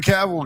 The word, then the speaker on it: Cavill: It's Cavill.